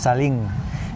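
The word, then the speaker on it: ซาเล้ง: C'est les Saling. Ça se prononce Saling.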